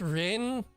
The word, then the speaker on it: Rin: It's Rin. It's very easy to say. It's only one syllable.